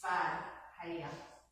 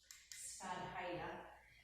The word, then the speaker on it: Svadhyaya: And I don't know why that's spelled with a W, because it's Svadhyaya. Svadhyaya.